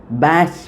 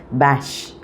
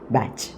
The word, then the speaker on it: Bach: And see regarding the pronunciation it is a bash b a c h uh in the in